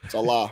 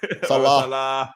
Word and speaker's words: Saleh: Say his name like that, Robert Saleh. Salah, it's my guy. Robert Saleh. Salah. Salah. It's like Mo Salah.